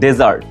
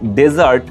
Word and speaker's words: DESERT: ওকে, অ্যান্ড আরেকটা শব্দ আছে DESERT, ওটা হচ্ছে ডেজার্ট, মরুভূমি বোঝায়। সো যখন ডেজার্ট DESERT, ওটা হচ্ছে ডেজার্ট, উচ্চারণটাও খেয়াল করতে হবে, ডেজার্ট নট ডিজার্ট।